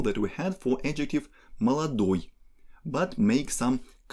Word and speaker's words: молодой: Молодой has stress on ой, and based on this initial form we can build all the other gender and quantity specific forms of this adjective.